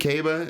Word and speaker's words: Caba: on Instagram Kevin Caba I think Kaba is how you said you pronounced your last name I'm calling you out uh I always thought it was cabba so glad you corrected me I think it's cable